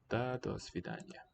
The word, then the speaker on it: До свидания: Свидания. Свидания. 4 syllables. До свидания.